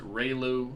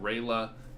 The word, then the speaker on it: ReLU: Some people pronounce it ReLU, some people pronounce it ReLA. You can pretty much pick how you want because it's an acronym anyway.